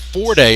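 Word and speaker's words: Forde: And I actually believe that his name is pronounced Forday in talking with Coach Epps. He picks up the foul. It might be because I did not write the E at the end of the name.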